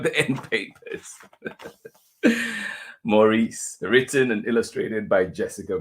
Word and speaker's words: Maurice: Books of San Francisco did I say Maurice Maurice good luck to me trying to keep the one pronunciation Morris by Jessica Bagley here